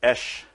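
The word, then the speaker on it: אש: the meaning in Hebrew fire is Ish which is spelled I Shin this is how you say fire in Hebrew Shin by itself can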